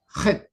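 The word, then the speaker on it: חית: Su pronunciación debe ser head, ¿no? Sentimos ahí la garganta y comienza a raspar, ¿no?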